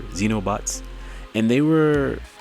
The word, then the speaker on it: xenobots: know what xenobots is it's pronounced it's spelled x-e-n is in no XE and O like exactly like Xavier xenobots and they were like